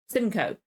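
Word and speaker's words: Simcoe: again Samuel ruken roken again never heard it's pronounced Simco wasn't in this he was in the opening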